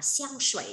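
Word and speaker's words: 香水: Nước hoa sẽ đọc là xiang shui nhá. Shui thì là nước lọc không? Xiang mà đúng một mình có nghĩa là hương thơm. Đấy, bạn nào mà tên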